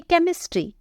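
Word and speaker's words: chemistry: करते हुए देखते हैं देखिए सी के जस्ट बाद एच का यूज हुआ है इसीलिए यहां पर h साइलेंट होगा इसे हम बोलेंगे केमिस्ट्री वैसे ही टेक्नोलॉजी यहां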